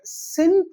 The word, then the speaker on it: Xin: சின் தொங்ஷு, சின்ன்றது வந்து XIN வந்து நீங்க எப்படி ப்ரொனவுன்ஸ் பண்ணணும்னா CIN வச்சுக்கோங்க, சின் இல்ல SIN வச்சுக்கோங்க, அதுதான் கரெக்ட்.